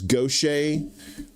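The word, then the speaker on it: Gautier: Uh there's there's Gocha, which is spelled G- A T I E R.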